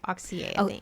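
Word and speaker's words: Auxier: say his last name Axia it's a-u-x-i-e-r okay oxy excuse me I only know that because I've heard I don't know how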